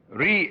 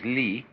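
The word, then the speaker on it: 理: Ri is a Chinese character pronounced by the Chinese Li, which almost all of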